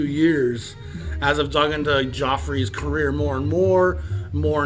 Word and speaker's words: Giuffre: music rather unheralded and we're talking about jimmy joffrey uh this looks like guy who fray but it's pronounced joffrey from what i can tell a good italian